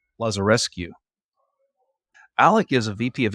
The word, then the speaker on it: Lazarescu: with Alec, make sure I say it right, Lazarescu.